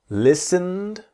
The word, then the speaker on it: listened: listened. So the T is silent. Listened. And we imagine that the E. So the T and E in listened are silent.